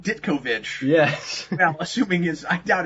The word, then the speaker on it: Ditkovich: His name, Dickovich, is spelled D-I-T-K-O and then Vich. Oh, that's cool. Yeah. That's cool. So he's Steve Ditkovich.